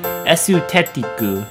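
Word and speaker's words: エステティック: So for the English word aesthetic, we change that to the Japanese katakana version of itself and we pronounce it esutetiku.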